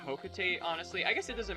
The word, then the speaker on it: Hokotate: I kind of like Hokotate, honestly. I guess it doesn't matter how you pronounce it, but I guess I just kind of prefer Hokotate because it rhymes with freight.